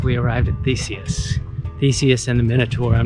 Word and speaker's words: Theseus: So we're having a conversation to try and determine the actual way to pronounce the name. And it sounds like we arrived at Theseus.